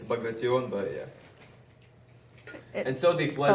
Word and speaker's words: Bagration: probably butchered that horribly. It's Bagration, but yeah.